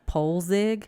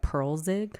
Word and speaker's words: Poelzig: It's spelled Poelzig, so I'm like Polzig. But then I saw in the actual movie they pronounced like Pearlzig.